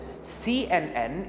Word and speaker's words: CNN: as aids one word cnn is pronounced as c n n as separate letters now that we know